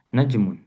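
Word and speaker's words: نجمٌ: Eh, seperti najmun, najmun, naknya yang panjang. Naknya yang ditekan afwan. Najmun, ya, najmun.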